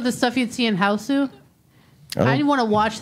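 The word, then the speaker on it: Hausu: So kind of like with the stuff you'd see in Houseu. I didn't want to watch that. It's a really old, weird Japanese horror movie called House, but they pronounce it Houseu.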